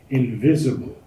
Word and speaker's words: invisible: The accent's on the second syllable. Invisible.